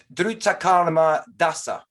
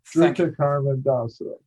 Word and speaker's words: Drutakarma Dasa: Drutakarma Dasa. Could you pronounce it properly? Good. That's good. That's quite good. Drutakarma Dasa.